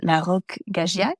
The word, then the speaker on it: La Roque-Gageac: your help on pronunciation, it's La Roque-Gageac, did I say that right? Annie Sargent: La Roque-Gageac, you're close.